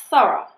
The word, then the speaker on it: thorough: Some examples of O-U-G-H pronounced as are in borough and thorough. Once again though, the Americans pronounce this somewhat differently. For borough and thorough, they use the first pronunciation, which is O, like in go.